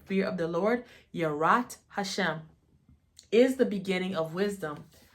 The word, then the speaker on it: Yirat HaShem: the Y the fear fear of the Lord yat Hashem is how you say fear of the Lord yat Hashem is the beginning of wisdom HMA and knowledge